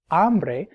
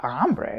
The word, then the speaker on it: hambre: But no, el hambre is really feminine like el agua. The H is silent, so it's really starting with an A.